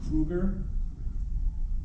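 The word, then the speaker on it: Kryuger: Yeah, it's spelled really weird, but it's not. It's meant to be pronounced as Kruger.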